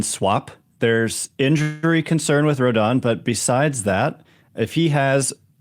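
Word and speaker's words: Rodón: How do you pronounce it? Rodon.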